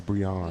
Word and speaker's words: Brianne: We're like, no, it's not Brienne, it's Brianne.